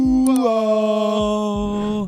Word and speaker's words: Duval: Duval.